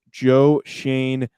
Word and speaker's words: Joe Schoen: now hiring their next general manager that being joe shane that is the correct pronunciation as we figured that out we also have determined that is the exact pronunciation but joe shane the assistant general manager with the buffalo bills